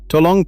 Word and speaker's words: tolong: And on the word itself, the O's are round and short, not the long English. O to long. Both syllables clean.